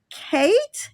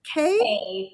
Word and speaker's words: Kaye: such a great time kate is that how you pronounce your name k how do you pronounce it why e just like the letter how do you pronounce